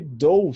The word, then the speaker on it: dough: Sem o GH, ele é mudo.